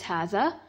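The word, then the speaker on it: هذا: huzzah which means this hatha is pronounced as hatha but is written without the first Aleph hatha is used for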